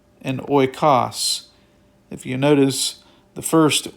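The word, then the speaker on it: οἶκος: Here it is oikos. Oikos. Again, the stress is put over the syllable.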